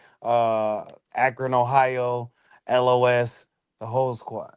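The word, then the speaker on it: Ellohess: Greg the Great versus L O S. Spelled phonetically, not spelled like the letters. E L L O H E S S.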